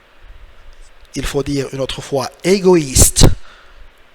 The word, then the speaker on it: égoïste: Il faut dire une autre fois égoïste. E est muet. So silent letter at the end. The E is silent.